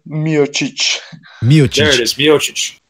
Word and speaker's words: Miocic: Yeah, he fought it's pronounced Miocic.